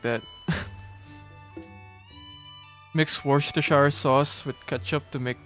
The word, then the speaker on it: Worcestershire: Mix Worcestershire sauce with ketchup to make the red darker.